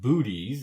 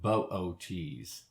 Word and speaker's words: Boötes: Now, I'm very aware this looks like it should be pronounced booties, and we often do in the planetarium for fun, but the proper pronunciation is pronouncing both O's, and that makes it Boötes.